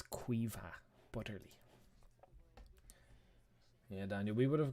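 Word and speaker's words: Caoimhe Butterly: That's how you pronounce that. Her name is Quiva Butterly. It's Quiva Butterly.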